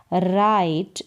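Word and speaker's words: write: आई यानी ये रहा उच्चारण आई, मैं, राइट इसको पढ़ेंगे राइट, डब्लू यहाँ पर साइलेंट है, और कैन का मतलब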